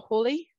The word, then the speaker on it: Halley: how these comments um named after the famous astronomer Edmond Halley or Hawley however you want to pronounce his name I say Haley and Halley's Comet is